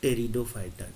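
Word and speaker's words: Pteridophyta: ब्रायोफाइटा और last में जो तीसरा भाग इसका होगा वो टेरिडोफाइटा। टेरिडोफाइटा। टेरिडोफाइटा। ठीक है? मतलब पी यहां साइलेंट होता है।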